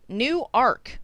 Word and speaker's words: Newark: pronunciation of farina not newark like new jersey nope new ark like noah just went out and got himself a bigger boat newark orion like orion's